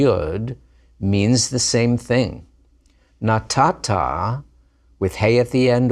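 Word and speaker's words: נָתַתָּה: You gave, masculine singular, natata. Notice that silent hey at the end.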